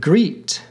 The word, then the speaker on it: great: Jest and great rhymed with the word eat in Shakespeare's London. Thus, they were pronounced jeest, eat, and greet. Nothing was pronounced noting.